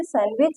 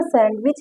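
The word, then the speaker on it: sandwich: आगे देखिए I found one cook and the last सैंडविच इन the kitchen. यहाँ पर सैंडविच नहीं कहेंगे, सैंडविच कहेंगे, बिकॉज यहाँ पर डी साइलेंट है।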